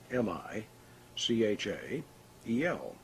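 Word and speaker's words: Michael: spirit within the triangle traditionally the name of the Archangel Mick il the angel of power was separated into three syllables mi CH a yell and written in the corners of the triangle to add a visual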